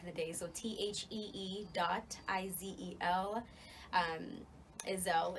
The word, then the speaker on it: Izel: Izel is how you say it. I know a lot of people say Izel, but hey, controversy's fun, right?